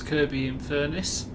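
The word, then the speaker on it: Kirkby-in-Furness: next station stop is kirby in furnace pronounced without the k in it kirby is also another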